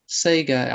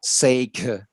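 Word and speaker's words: sekha: case so um and that's pronounced sega but probably and that probably might if it was a g sound it would be saying say k sound yeah okay okay thank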